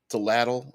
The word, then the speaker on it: atlatl: There's the ATL at atlatl, I believe it's how it's pronounced. If not, that's how I am pronouncing it.